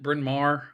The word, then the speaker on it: Bryn Mawr: How do you pronounce it? Bryn Mawr.